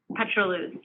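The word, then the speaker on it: pétroleuse: And yes, you pronounced it correctly, petrolus.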